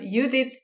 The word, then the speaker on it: Judit: everyone sure i can so um you did yeah with hungarian pronunciation yeah exactly dear listeners